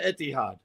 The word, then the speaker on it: Etihad: That didn't come anywhere close to Etihad. Well, Etihad, but the more the mispronunciation can be Etihad.